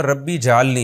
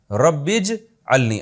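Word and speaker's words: رَبِّ اجْعَلْنِي: नमाज कायम करने वाला इसको लोग अक्सर पढ़ते रब्बी जलनी ये गलत है रब्बीज अलनी असल में था रब्बी इज अलनी अलिफ साइलेंट हो गया ऐ मेरे रब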